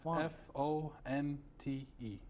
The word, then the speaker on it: Fonte: last name is font f-o-n-t-e okay and how do you pronounce it font font font all right because I